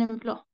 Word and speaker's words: emploi: OI, toujours quoi? Donc, un emploi. Emploi. OK, merci. Tu peux chercher un emploi. Étant donné que tu as eu ton diplôme, tu peux chercher un emploi.